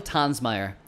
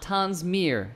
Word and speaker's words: Tonsmeire: so on today's show we talk with Michael tans Meyer not Tom's mere as many people like myself pronounce it incorrectly who many of you might